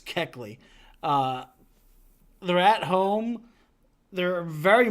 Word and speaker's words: Kuechly: I like Luke Kuechly. I think that's how you pronounce his name. I got blasted by the YouTube commenters. I said it wrong. It's Kuechly.